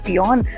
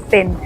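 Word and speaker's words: Fionn: अगर हम अपनी एक्सेंट में स्पेलिंग पढ़ें तो उसको बोलेंगे फियोन, बट आयरलैंड में लोग इसको प्रोनाउंस करते हैं फिन।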